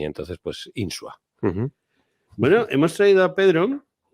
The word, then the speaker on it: Insua: Y es Pedro Insua. ¿Lo he pronunciado buenos bien? días, sí, perfectamente. Sí, perfectamente. Sin la tilde en la U, que es como suelen,